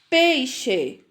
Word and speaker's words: peixe: Essas palavras não são escritas com CH. Elas têm o som do CH, tá certo? Então, quando eu leio caixa, peixe, xarope, enxada, estão ouvindo a pronúncia?